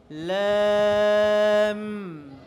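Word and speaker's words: لام: করতে হবে এরপরেরটা দেখো লাম লাম লাম লাম বলার সময় লাস্টে ঠোঁটকে একটু চাপ দিতে হবে ঠোঁটকে দিতে হবে একটু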